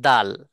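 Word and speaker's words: دال: সম্পর্ক ঠিক আছে এবং দাল তার সাথে দালেরও সম্পর্ক তাহলে এই আগাটাকে এই যে দুইটা দাঁত দেখতেছি প্রথমে এই দুইটা দাঁতের গোড়ার সঙ্গে লাগাইয়া দাল উচ্চারণ করতে হবে যেমন দাল কেন টানলাম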